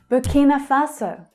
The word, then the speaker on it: Burkina Faso: Burkina Faso, Burkina Faso. Burkina, the stress there is on the second syllable.